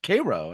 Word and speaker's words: Cairo: like Cairo, Illinois, looks like it should be Cairo, but it's Cairo, and it's just Cairo, yeah.